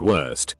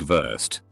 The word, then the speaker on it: Wurst: W is pronounced V. Something like worst, sausage, is pronounced more like Wurst, and she almost broke a desk because of it.